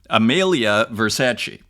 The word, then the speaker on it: Amelia Versace: So Amelia Versace, that is how you pronounce it, Amelia Versace on digital art.